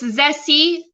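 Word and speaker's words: Zeesea: on their own store it's zessie uh pronounced uh it's zessy written as zebra echo echo sierra echo alpha exactly as megan wrote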